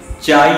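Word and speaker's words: chi: बड़ा सा एक्स और इसको बोलते हैं चाई, क्या बोलते हैं चाई, ठीक है। स्पेलिंग कहीं कहीं लिखा होता है CHE और कहीं कहीं देखने में आता है CHAE CHAI, चाई, ठीक है, बोलते चाई है, ठीक है।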